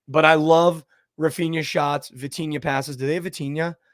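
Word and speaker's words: Vitinha: game check um but I love Rafia shots vtina passes do they have vtina for prize picks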